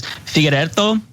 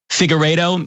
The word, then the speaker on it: Figueiredo: But it's Figueiredo, but Figueiredo is the main variation, but I accept like 5 to 6 other variations of it.